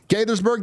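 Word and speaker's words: Gaithersburg: Gathersburg. That is how you say it.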